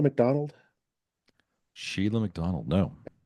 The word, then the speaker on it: Shelagh: You ever heard of Sheila McDonald? Sheila McDonald. No. And that's spelled a very Scottish way, Shelagh.